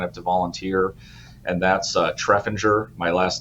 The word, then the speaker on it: Treffinger: And it is Treffinger, not the way Yes. that I've been pronouncing it.